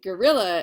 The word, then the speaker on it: guerrilla: what guerrilla warfare is I'm not saying gorilla like g-o-r-l-l-a like the you know like the ape I'm saying gorilla is in like the way that the Spanish word for war is spelled uh and it means that